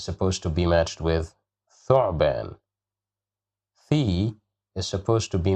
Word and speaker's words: ثعبان: ثعبان, ثعبان, ثعبان. Here we have dhamma at the top of the letter th, so we pronounce it as thu, ثعبان.